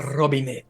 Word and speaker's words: Robinette: Robinette. Did I say it right? It is me. Yes, you have to curl that R really hard. I assumed that was the case. Robinette.